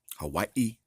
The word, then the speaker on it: Hawaii: Hawaii, to pronounce it correctly.